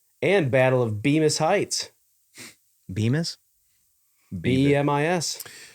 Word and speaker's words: Bemis: Bemis? B-E-M-I-S. How would you pronounce that?